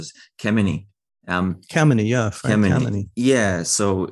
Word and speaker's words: Kemeny: And this is Kemmeny. I think I'm pronouncing this Kemmeny.